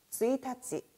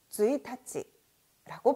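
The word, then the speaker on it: 一日: 자, 그런데 5월 1일, 3월 1일처럼 첫 번째 날이라고 할 때는 쯔이타찌, 쯔이타찌라고 발음이 바뀐다는 것입니다.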